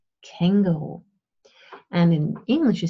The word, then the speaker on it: Känguru: In German you stress the first part, so it's kangaroo.